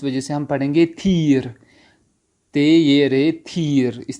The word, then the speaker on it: تیر: وہ کیا ہے, تھی سے بنتا ہے, وہ ہے تھیر. تے یہ رے فارسی تلفظ میں تھا یا را, تھیر, تھیر.